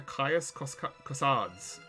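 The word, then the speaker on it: Caius Cosades: with a ticket to kaios kossads kaios kossads uh that like every each race has their own way you're supposed to pronounce them i i i did brush up on my latin uh in the town of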